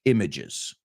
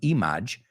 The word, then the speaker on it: image: brain cannot create fresh images. Y vamos a pronunciar esa palabra, no es image, it's image. Image, rima con bridge.